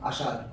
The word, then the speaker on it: আষাঢ়: এই উচ্চারণটা অনেক সময় দয়ের মতো পাপড়ি, যেমন আষাঢ় আষাঢ় আষাঢ় এরকম উচ্চারণটা হয়। আর উচ্চারণটা খানিকটা ঢয়ের মতো লাগবে আষাঢ়।